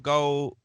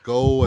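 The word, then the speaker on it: Gough: Shout out to Michael Go, I think is how you pronounce that name. Go.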